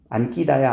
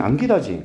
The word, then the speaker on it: 안기다: 되기 조건 아니었나요라고 하는데 발음 한번 해 볼래? 발음 안끼다야. 안 끼다야. 안기 응 안 기다지 그럼 된 소리 대기가 일어나요? 안 일어나요? 안 일어나지.